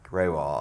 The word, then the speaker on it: Grewal: Grewal, is that the correct pronunciation? It's good. Say it again. say it again for me. Grewal, okay.